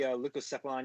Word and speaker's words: Leucocephalon: So I chose the Leucocephalon iguana, Chris. Ooh, nice pronunciation.